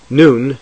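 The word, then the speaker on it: נון: non-final form noon noon noon is pronounced like n as in no when noon occurs at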